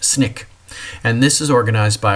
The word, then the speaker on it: SNCC: Student Nonviolent Coordinating Committee or SNCC and it's often pronounced Snick and this is organized